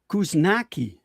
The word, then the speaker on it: Kuzniacki: I wouldn't say you butchered it. It's Kuzniacki. Kuzniacki.